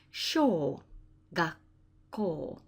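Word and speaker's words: 小学校: That's called small school in Japanese, and it's pronounced sho gakko. Remember, you've got to pronounce that ko on the end, and that sounds just like an apple core.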